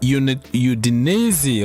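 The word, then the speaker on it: Udinese: So, we have actually one game left on Tuesday against Udinesi, right? That is the way it's pronounced in Italy.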